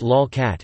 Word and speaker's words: lolcat: A lolcat, pronounced lolcat, is an image macro of one or more cats.